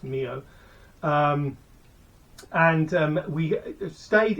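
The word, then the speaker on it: Millau: the famous bridge is or some people might pronounce it Milo but it's pronounced Neo um and um we stayed in a hotel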